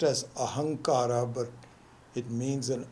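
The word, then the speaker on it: ahaṃkāra: calls this a hunk Ora even though is pronounced as a hunk ARRA but it means an M rather than an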